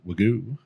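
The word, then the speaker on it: wagyu: wag whatever the you say pronounce it wagoo it's that cow can't move it just sits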